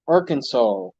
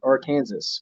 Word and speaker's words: Arkansas: Peter yep I'm in Arkansas some people like to pronounce it or Kansas which is not how it is pronounced okay got a scrap